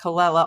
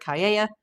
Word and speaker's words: Callella: Unless you're living under a rock, you know who Derek Kella, also known as Derek Caya, depending on if you want to do the Spanish or the English pronunciation.